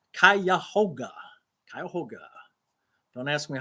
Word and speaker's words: Cuyahoga: Tell us how to pronounce Cuyahoga. Cuyahoga.